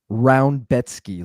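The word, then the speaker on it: Rębecki: Rebecki? So it's say it again, Long Island? Roundbetsky, like almost like the word ROUND in the front.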